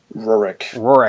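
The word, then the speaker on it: Rurik: is this the I the how do you pronounce the name of this one Rorick Rorick Don of Kiev's yeah and that one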